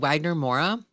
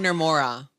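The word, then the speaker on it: Wagner Moura: Jordan and Sinners, and Wagner Mora.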